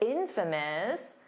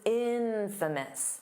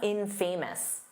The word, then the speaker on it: infamous: Notice that pronunciation because it's infamous. The syllable stress is on the in, so it's not infamous. No, that's not how you say it.